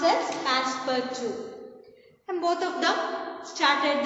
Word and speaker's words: Passepartout: It's pronounced as Passepartout.